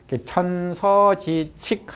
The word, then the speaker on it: 천서지칙: 어조사 뭐와 천서지즉이 아니라 이때는 법이니까 칙이라고 읽어야 돼요. 천서지칙 하면은 서자가 뭐죠?